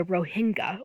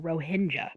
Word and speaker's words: Rohingya: These are the Rohingya or Rohingya people. Both pronunciations are correct.